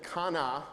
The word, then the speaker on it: Hannah: Uh for example, Hannah is apparently kana, but we always say Hannah.